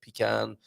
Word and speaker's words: pecan: Yes, Country Bear, regional pronunciations for loads of words. Pecan, pecan, yes, etc., etc.